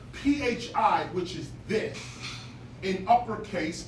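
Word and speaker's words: φ: Over time, in Koine Greek, Koine meaning common or shared Greek, phi began to be pronounced as an F, or should I say this, pa began to be pronounced as an F sound when it was originally pronounced as a pa sound. PHI was not phi, it was pa.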